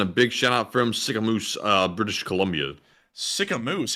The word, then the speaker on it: Sicamous: work, guys, and a big shout out from Sycamoose, British Columbia. Sycamoose? How do you spell that?